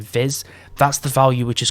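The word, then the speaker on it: vis: about earlier which is spelt v i s like viz that's the value which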